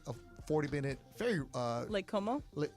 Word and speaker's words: Como: Lake Como? How do you say it? You said Cuomo, like the former governor of New York.